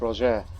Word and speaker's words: Roger: I know English speakers, you English speakers and Americans say Roger, but I believe it's Roger is how you say it in French, I believe, if I'm correct.